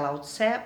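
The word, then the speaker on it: Laozi: A gente aqui no Brasil costuma pronunciar Lao Tse, mas parece que a pronúncia correta em chinês parece que é Lao Zi, tá?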